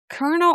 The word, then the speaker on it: colonel: Is it pronounced colonel or colonial? No, it's colonel, right?